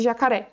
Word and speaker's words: jacaré: Se a gente fizer a separação de sílabas aqui de jacaré, como que fica? Ja-ca-ré. E qual que é a sílaba tônica, a sílaba mais forte? Ré. Então, a sílaba tônica, ela é a última sílaba, não é a antepenúltima. Então, essa palavra aqui, na verdade, ela é uma oxítona.